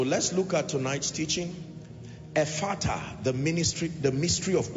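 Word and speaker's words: Ephphatha: together amen so let's look at tonight's teaching efata the ministry the mystery of open doors a father is spelled e-p-h-p-h-a-th-a e p h p h the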